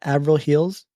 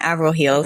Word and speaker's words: Avril Heels: Am I pronouncing it right? Avril Heels? Yeah. Avril Heels.